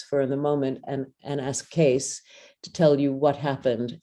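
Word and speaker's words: Kees: Just in case you're wondering, my name is spelled K-E-E-S, and everyone says Case because it's Dutch, and the two E's in Dutch make an A sound.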